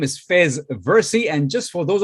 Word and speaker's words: Faiz: spelled f-a-i-z so just let me clarify that it's pronounced fez as an f-e-z but whatever you call